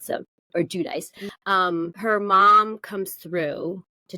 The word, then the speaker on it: Giudice: So it's either Giudice, I believe is the Italian way to say it. So, or Giudice.